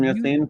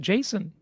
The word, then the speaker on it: Yassine: You're welcome, Yassine, for the time and the insight. Hey, you got to pronounce it Jason. His name is Jason.